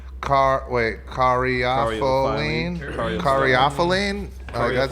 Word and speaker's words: caryophyllene: It's a bunch of syllables cariophyline. Cariophyline. Oh, that's Caryophyllene.